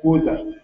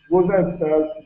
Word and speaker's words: Gwoza: They were kidnapped from a place called Goza. Goza is spelled Gwoza.